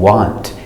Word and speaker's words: want: oh oh or war two very important exceptions to the what rule we do not say it was and want this changes to the sound up like cup and cut and up was what and now we have